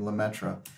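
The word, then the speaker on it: Lemaître: Catholic priests Georges who in an anglicized way of pronouncing his last name lemetra was one of the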